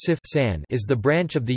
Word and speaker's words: CFSAN: The Center for Food Safety and Applied Nutrition (CFSAN), pronounced CFSAN, is the branch of the United States Food and Drug Administration (FDA) that regulates food, dietary supplements, and cosmetics.